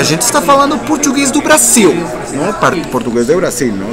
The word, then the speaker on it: Brasil: O por ejemplo, la L final se pronuncia U. Entonces si algún día escucharon algún partido de fútbol en portugués, dicen Brasil.